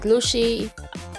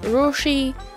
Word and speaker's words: Lucy: ly as say lushi they do pronounce it lushi or rushi so this is Lucy